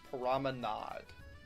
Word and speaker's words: Promenade: the booster course pass, Tour Paris Promenade, which is the correct pronunciation of it, by the way. Promenade, not promenade. Promenade. Okay. Promenade. No, wrong people. You're all wrong.